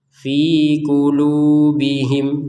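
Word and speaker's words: في قلوبهم: Jadi antara panjangnya fi dengan lu itu sama. Jadi jangan sampai berbeda. Misalkan fi-nya fi. Ini kan kepanjangan atau kependekan. Fi qulubihim. Ah, kependekan. Jadi, fi qulubihim. Nah, harus sesuai. fi qulubihim marad. Nah, mim sukun bertemu mim ini harus kita baca dengan dengung 100%.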